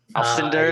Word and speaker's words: Alcindor: Alcindor, is that how you say it?